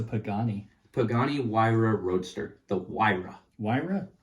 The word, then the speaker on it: Huayra: The Huayra. Huayra? Huayra Roadster It's BC. H-U-A-R-Y. Mm-hmm. Hey, that's Huayra. I was going to say Hawaiian. It's Italian.